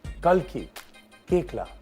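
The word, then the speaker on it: Kalki Koechlin: and i am so happy that i can pronounce her name finally watch me do this watch this kalki kekla yeah i struggled i struggled for six shows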